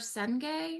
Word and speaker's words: Senge: by Peter Senge.